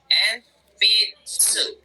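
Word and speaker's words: えんぴつ: Jadi ini dibacanya gimana? Empitsu. Oke, thank you. Enpitsu ya.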